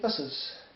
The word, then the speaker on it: Asus: But you know, if you're talking Be Quiet and Asus, whatever, Pegasus, so Asus, should pronounce the company Asus.